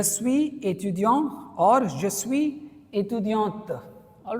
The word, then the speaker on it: étudiante: Male के लिए étudiant, female के लिए étudiante, तो sound आएगा, है ना, क्योंकि अगर टी के बाद ई होता है तो हम टी तक प्रोनाउंस करते हैं, और टी के